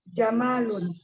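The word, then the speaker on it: جَمَل: Jamalun mimnya pendek atau panjang? Jamilun. Jamalun atau jamalun? Onta ini Ustaz. Itu mimnya pendek atau panjang? Pendek. Pendek. Berarti kita bacanya pendek. Hada jamalun gitu ya. Jangan sampai ketarik.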